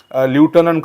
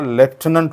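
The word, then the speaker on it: lieutenant: interesting word students या शब्दाचा उच्चार बऱ्याचदा मुलं विद्यार्थी ल्युटनंट करतात त्याचा करेक्ट उच्चार हा ल्युटनंट होत नाही त्याचा करेक्ट उच्चार हा लेफ्टनंट होतो तुम्ही जर या शब्दाचं बारकाईने जर तुम्ही या शब्दाला शब्दाची स्पेलिंग पाहिली तर तुमच्या लक्षात येईल की या शब्दांमध्ये कुठेही एफ नाही पण त्याचा उच्चार हा मात्र लेफ्ट होतो कारण हे फ्रेंच वर्ड आहे ओके यस तर याचा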